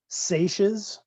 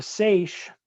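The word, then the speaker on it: seiche: have these things that are called excuse me sachas it's spelled s-e-i-c-h-e i think if i remember correctly just put in the chat box um but a sache this will happen in like a harbor where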